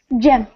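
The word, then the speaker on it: Cem: Because the last time I saw someone with a C in their name and they pronounced it like a J, the guy's Yes. name was John. I found out that that's how you say it in Turkish.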